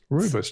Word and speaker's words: rooibos: Now she says it rooibos, and it's very cute when she says it that way. And for me, it's rooibos tea. It's the right way to say it, but she's doing everyone's it the right accent way. is different.